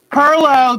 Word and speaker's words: Perloe: Perlo, the best I know, is spelled Perloe.